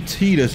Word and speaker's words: Tidus: Insist on Tidus due to Japanese pronunciation, but their spelling really doesn't say it. I'm Team Titus myself.